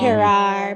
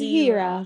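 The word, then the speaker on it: Herah: A lot of persons pronounce it like they want to give it 2R, like Hera, but it's Hira.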